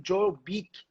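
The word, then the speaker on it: Joel Beeke: Adoração no lar do Joel Bick. Joel, né? Ele se escreve dessa forma. Joel Bick. B-E-E-K-E.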